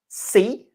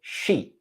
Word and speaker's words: see: Second example was the word see. As in I see, you were saying she. She. Oh, see. See.